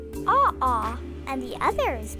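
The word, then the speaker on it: ʻaʻā: the first is pronounced AA and the other is pronounced pooy Hoy both words are Hawaiian AA has a rough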